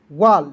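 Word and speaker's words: wall: वाल डब्ल्यू A double L तो इसे पढ़ेंगे दोस्तों वाल क्यों क्योंकि देखिए आपको याद रखना है ए डबल एल जब भी रहेगा तो इसका उच्चारण औ के रूप में करना है। ठीक है? तो यहां पे देखिए डब्ल्यू से वह हो जाएगा और ए डबल एल दोस्तों इसका उच्चारण ऑल के रूप में करेंगे तो क्या हो जाएगा?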